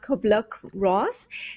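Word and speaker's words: Kübler-Ross: author of that Elizabeth I think is pronounced cobbler Ross and she says the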